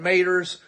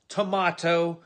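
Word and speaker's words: tomato: this time of year you're eating your homegrown mater's you're playing your backer crop well first of all it's pronounced tomahto and it's pronounced tobacco and that's a nasty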